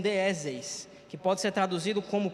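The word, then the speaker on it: δέησις: Ele vem do grego e é um termo que se pronuncia como deis, que pode ser traduzido como petição.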